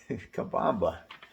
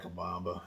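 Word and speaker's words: Cabomba: you anything about where to find largemouth okay kabamba ah kabamba okay i'll just kabamba is spelled c-a-b-o-m-b-a and uh just look that up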